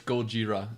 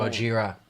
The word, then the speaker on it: Gojira: It's Gojira. It's the actual Gojira.